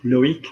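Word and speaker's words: Loïc: Generally, a C on the end of a word will get pronounced, like in names, Eric, Loic, which are quite names from Brittany, at the C ending.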